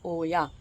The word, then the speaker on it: olla: l a watering system Ola but it's pronounced as Oya so yeah if you